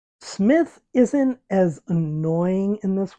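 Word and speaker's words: Psmith: a little bit less of this one because Smith silent P Smith is just not an enjoyable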